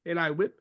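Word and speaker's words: Eli Whipp: Eli Whip. comme ça qu'on le prononce. Eli Whip.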